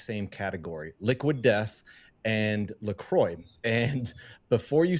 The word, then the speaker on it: LaCroix: Despite the French sounding version, it's an American brand created in Wisconsin, and the company itself officially confirmed that it's LaCroix.